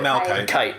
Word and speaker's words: Malachite: Is it Malachite or Malachite? Malachite. Kite. It's a hard K.